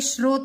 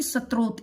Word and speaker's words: स्रोत: ये मैं बता दूं, ये श है और ये श के अंदर रह है, तो इसलिए ये स्रोत बोला जाएगा, न कि स्त्रोत। इसका उच्चारण स्त्रोत नहीं है, इसका उच्चारण होगा स्रोत, स्रोत के आधार पर।